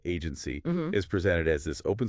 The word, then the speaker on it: AGNTCY: Agntcy and yeah you pronounce it agency is presented as this